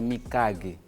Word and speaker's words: Mikage: no ano 1860 na as pessoas falam mikage mas a pronúncia correta é mikage a pronúncia correta é